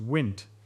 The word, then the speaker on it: Wnt: Wnt, which is pronounced Wint and is short for wingless integration site, because it was originally